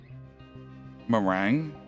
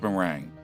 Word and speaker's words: meringue: Uh, I was watching Australian Master Chef episode and the audience clapped when the chef made uh what what what merang? It's meringue. Okay.